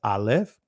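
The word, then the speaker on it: אָלֶף: trace over you see the alop which is the first letter of the Hebrew alphabets in the Israeli is pronounced Alf and then you'll see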